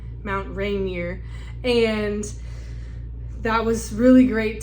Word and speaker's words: Rainier: Mount Rainier.